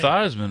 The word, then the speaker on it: Theismann: Theismann rhymes with Heisman. Exactly. Thiesman does not.